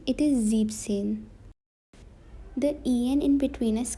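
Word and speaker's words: siebzehn: and seine is zexin now this is an exception that s in between is cut zebzen it is 17 in german now this is also an exception it is not zebensen it is zip sin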